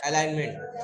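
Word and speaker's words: alignment: चार अलाइन मेंट हो एलाइनमेंट ए एल आई जी एन एलाइनमेंट थोड़ा प्रोनंसिएशन अलग है इसका स्पेलिंग अलग है प्रशन अलग है थोड़ा ध्यान दीजिएगा एलाइनमेंट बोलते है इसको चार एलाइनमेंट होते हैं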